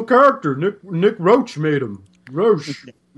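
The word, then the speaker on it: Roche: Roach. No, they'll overpronounce that like nerds always do. They're like, Nick Rochier. Nick Rochier.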